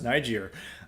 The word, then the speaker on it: Niger: happening in Niger uh no other pronunciation for that but it's Niger uh and those uh Nigeria